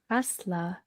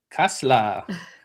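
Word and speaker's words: Kasseler: Uh K A S E L E R Kasla. Kasla. And what is Kasla?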